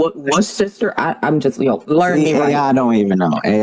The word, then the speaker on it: Worcester: How do you pronounce it? Yeah, it's Worcester. It's Worcester.